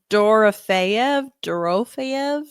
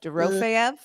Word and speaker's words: Dorofeyev: pronounce We're Pavel. good enough friends. We can call him by his first D- name. Dorofeyev. Dorofeyev.